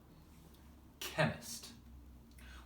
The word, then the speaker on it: chemist: The one that here, again, it's not a ch sound, it's a k sound. So ist. Chemist.